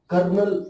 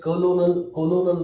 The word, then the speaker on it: colonel: अभी इसको कर्नल कहा जाता है, कोलोनल नहीं कहा जाता है। ये हमको ध्यान में रखना है।